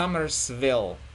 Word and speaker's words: Summersville: Summers s Summers uh V is when you when you touch the lower lip so Summersville and then West West